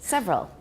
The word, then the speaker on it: several: donate owes occurred in several languages several several okay first of all it's not sad and second it's only got two syllables every one several good